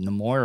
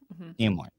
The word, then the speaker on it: Nimoy: say his last name is it nemour or nimoy nimoy okay so leonard nimoy